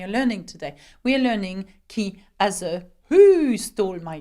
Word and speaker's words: qui: how to ask questions with the French word key which means who now we know that that